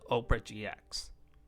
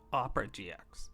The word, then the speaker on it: Opera GX: I call it Oprah GX, but I'm going to try and pronounce it the correct way. Opera GX.